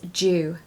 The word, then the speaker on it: due: is not do okay even though it's spelled d-u-e it's actually pronounced as Jew I'm Jew I'm Jew